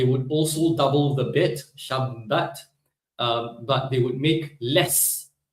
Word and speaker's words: Shabbat: on the right syllable, the Ashkenazi put the emphasis on the wrong syllable. Well, who's to say they're wrong, right? But they would put the emphasis on the first syllable, Sha, rather than the rest of us, right? Shabbat. And then they pronounce the tav as an S sound. Shabbos.